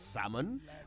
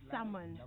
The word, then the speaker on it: salmon: with fish which fish salmon oh I love salmon and notes I said someone not salmon oh yes the L is silent well tell that to